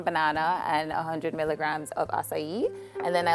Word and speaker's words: acai: So if you want more acai tones, then you would put more acai, less fruits. Acai. And it's spelled A-C-A-I.